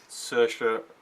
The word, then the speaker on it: Saoirse: like the acting from search for ronan that's how you pronounce her name she's an irish actress